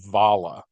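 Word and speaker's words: abhaile: my life actually and it's spelled a b h a i l e that's pronounced aala and it can mean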